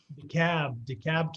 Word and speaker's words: DeKalb: Am I pronouncing that right, Scott? Yeah, DeKalb County, yes.